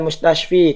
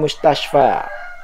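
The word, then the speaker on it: مستشفى: Ila tidak boleh dia baca Ilal mustasfi tidak boleh ya namun dia baca Ilal mustasfa ya Kenapa karena ada yang menghalanginya sehingga dia tidak nampak harakat kasrahnya karena ada penghalang Alif lazimah ya Sehingga bacanya Ilal mustasfa dia kasrah hanya saja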